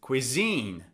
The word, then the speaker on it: cuisine: It's on the second syllable.